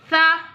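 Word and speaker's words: ث: Tha pronounce from the tip of the tongue touching the inner edge of the top two front teeth.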